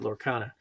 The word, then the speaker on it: Lorcana: That's how you say it, Lorcana.